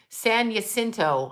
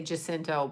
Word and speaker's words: San Jacinto: i climbed sanchez and san jacinto i never say it right i say jacinto but you know i don't have that nice rolling ours but yeah so it